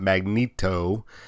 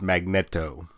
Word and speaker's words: Magneto: mutants leader is uh magneto and that's how it's supposed to be pronounced by the way it's not magneto it's magneto but coming in out